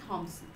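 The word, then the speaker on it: Thomson: See, Thompson, the pronunciation will be same, only the spelling is a bit different. Like Thompson, in second case the P will not be uttered. So both the pronunciation will be Thompson, who add a comic element to the stories.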